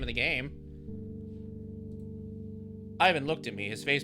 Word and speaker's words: Ivan: I'm Ivan. The stress is on the eye. It's not Ivan.